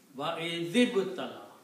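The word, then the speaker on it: وَإِذِ ابْتَلَىٰ: You cannot combine two sukoons together. So what you do? You change this to a kasra. So now you can pronounce it. Wa I zib tala. Wa I zib tala.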